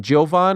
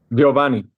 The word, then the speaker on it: Giovani: Is it Giovan or Giovanni? Giovani. Giovanni. Your last name is Estella.